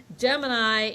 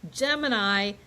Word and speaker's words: Gemini: off by talking about how do you pronounce this? Because there's the constellation Gemini, but I've also heard this pronounced Gemini. And so, Beth, what's going on with the pronunciation here? Right. Well, I've always heard it Gemini, and that's just where I land. So when I reference it, I'm going to say Gemini, but Gemini or Gemini, both are correct.